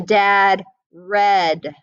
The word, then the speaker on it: read: have to know that if it's in the past you say red like the color and if it's in